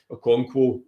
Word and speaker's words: Okonkwo: And I think Okonkwo, that's how you say it, I remember there, Okonkwo,